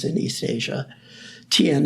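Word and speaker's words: Thiền: Tien is the Vietnamese pronunciation.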